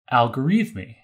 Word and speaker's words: Al-Khwarizmi: So in English, we pronounce this Al-Khwarizmi.